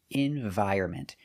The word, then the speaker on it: environment: So remember, pronunciation, environment. The N is silent.